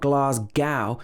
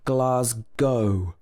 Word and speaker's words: Glasgow: of people get wrong it's not glasgow it should be glass go with o at the end